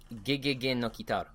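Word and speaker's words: ゲゲゲの鬼太郎: Tooch, what was the, how do you actually pronounce the name? Gegege no Kitaro.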